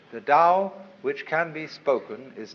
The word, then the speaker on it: Tao: the Dao ta AO pronounced Dao in the Mandarin dialect Tao in the changhai dialect toe in the Cantonese dialect take your choice da